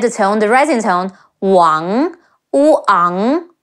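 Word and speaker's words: 王: pronounce the surname as Wang, but the A-N-G in Mandarin is close to the A-U-N as in aunt in British English. Ang, now add the tone, the rising tone, Wang, Wu Ang, Wang, Wang Yi, Wang Yi.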